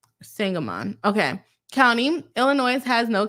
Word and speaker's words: Sangamon: No, by the way, kind of rhymes with Hangamon. Oh, Hangamon. Interesting. Sangamon.